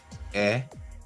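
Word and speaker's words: へ: Oh, we use, just making sure that you use e is actually he, but we don't pronounce the h when we're using it as a radical.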